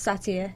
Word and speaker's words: Saytr: It's pronounced satire. It's spelt Saytr.